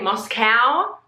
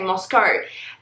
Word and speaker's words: Moscow: I'd heard people say Moscow, like moo cow, Moscow, and then I'd heard people say Moscow. Tons of you told me that I actually say it correctly and Moscow is the American way.